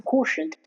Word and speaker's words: quotient: Here in while pronouncing quotient, it might seem uh u is not as uh more pronounced, not as evident, you know, quotient. Uh it kind of seems like the U is skipped and u and O is attached together.